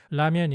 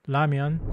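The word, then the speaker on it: 라면: It may seem similar to the English L or R, but if you listen carefully to how Koreans pronounce it, you'll notice a clear difference. This Korean consonant is pronounced with the tongue in almost the same position as the English L. In English, the L sound is made by pressing the tip of the tongue against the ridge, where the gums meet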